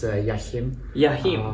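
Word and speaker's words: Joachim: to the show um yakim did i pronounce it correctly or it's close enough my name is very complicated causes difficulties everywhere across the world the proper pronunciation is jachim welcome to the show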